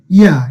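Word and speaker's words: ياء: তো প্রিয় শিক্ষার্থীগণ, খেয়াল করুন এই ইয়ার উচ্চারণটা কেমন হবে? আপনারা বলেন না ইয়েস ইয়েস, এই ইয়েস বললে এই যে ইয়া ইয়া, এই যে উচ্চারণটা কি হবে? ইয়েস থেকে ইয়া।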